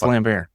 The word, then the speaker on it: Lambert: name wrong or something Christopher lambar is it lamb is not are you I'm serious it's lambar he's gonna be so